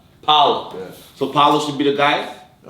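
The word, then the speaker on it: Paolo: Talk about Pablo. Did I say it right? Paulo.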